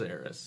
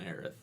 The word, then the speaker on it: Aerith: with heiress or no it never was heiress yeah it's always the Earth yeah anytime has been voiced it's been aireth okay I thought they